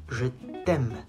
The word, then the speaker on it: je t'aime: Je t'aime. Not je t'aime. There's no H.